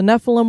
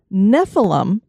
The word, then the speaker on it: Nephilim: nevertheless his day shall be 120 years the Nephilim were on the earth in those days and